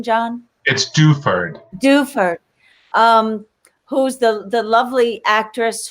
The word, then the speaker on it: Duford: Help me with her last name pronunciation, John. It's Duford.